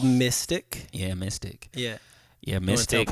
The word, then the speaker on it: MY5TC: But it's like MY5TC, right? But it's pronounced mystic, and because we're into mysticism, and we're mystics, and yeah, man, got a new project.